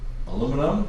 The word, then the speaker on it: aluminum: Part of the reason why I bring that up is because something like AL, in American English, we refer to it as aluminum.